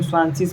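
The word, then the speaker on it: zwanzig: डब्लू ए जेड आई जी है इसको हम स्वासिस बोलेंगे अच्छा कैसे इसको स्वाशिस बोलेंगे वो भी आपको बताएंगे पहले ये समझिए कि 20 को स्वाशिस बोलते हैं।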